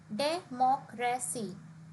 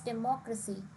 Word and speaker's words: democracy: For example, if we see the word democracy, it is a four-syllable word, democracy. And the stress here is on the third last syllable. So we say it as democracy, technology, critical.